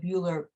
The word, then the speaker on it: ULURP: That was in 1975 and created the Uniform Land Use Review Procedure, pronounced ULURP, which gives the community boards the authority to review and use proposals such as zoning actions and special permits.